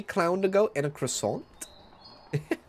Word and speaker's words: croissant: third freaking Bean yeah there's no T sound in croissant I disagree I disagree